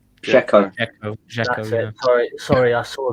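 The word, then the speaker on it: Džeko: Sorry if I pronounce this wrong. It's Dzeko. Dzeko.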